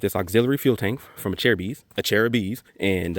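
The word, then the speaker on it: Acerbis: this name the pronunciation Acer bis Acer bees but it's a chair bees like a chair of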